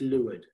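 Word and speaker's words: leeward: le w e w AR D Li would pronounce Li lured so rule number three here yep wind boats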